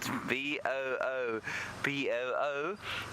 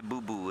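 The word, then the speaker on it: boubou: it's spelled b if it's b o o b o o no it's not it's a bull bull not a boo boo b u l b u l bull bull there is a boo boo but that's spelled b o u b o u so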